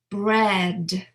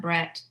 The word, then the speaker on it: bread: Now, let's do the /D/ "afraid" "bad" "bread" "outside" "cried" So I'm really pronouncing that last sound as a voice sound right because /D/ is voiced so it's not "afrait" or "bat" it's not "breat" "outsite" So it's something to